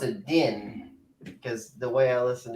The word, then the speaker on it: djinn: So it's a combination of din and Jin.